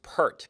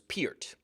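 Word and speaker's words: Neil Peart: named Neil Pier uh for years I thought that his name was pronounced per but no from the man himself it was Pier even though it's spelled p e a r t anyway in 1975 he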